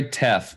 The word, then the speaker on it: teff: It's teff. Great. Teff and quinoa. TEFF. Rhymes with Jeff, so I have to get it.